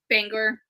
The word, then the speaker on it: Bangor: what I picture can't banger Bangor how is it pronounced Bangor yeah okay uh that's how exactly